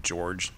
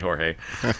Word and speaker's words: Jorge: And it's funny because I always hear people calling him George, and it's spelled Jorge. Right. And I'm like, is it George or Jorge? He's like, come on, man. All right, Jorge.